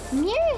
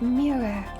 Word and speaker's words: mirror: weird word to say you sound really dumb if you don't say it like enunciate it super properly like mirror but you never want to say it like that because it's just too much effort so you just say mirror mirror and that sounds dumb kind of sounds like